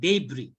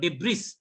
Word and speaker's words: debris: এখানে এই ওয়ার্ডটা দেখেন, ডেব্রি, এটা একটা ঝামেলা আছে, এটা উচ্চারণ হচ্ছে ডেব্রি, ডেব্রি, নট ডেব্রিস।